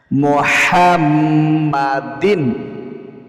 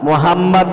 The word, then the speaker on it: মুহাম্মদ: আল্লাহুম্মা সাল্লি আলা নূরিল হুদা মুহাম্মাদিন। অনেকেই বলেন মুহাম্মদ, মুহাম্মদ বললে অর্থ বিগড়ে যায়, এজন্য গলার চাপ দিতে হবে মুহাম্মদ। আল্লাহুম্মা সাল্লি আলা নূরিল হুদা মুহাম্মদ। আল্লাহুম্মা সাল্লি আলা নূরিল হুদা মুহাম্মদ।